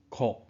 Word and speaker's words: 躩: 这字读音哭，想要走脱的乱冲。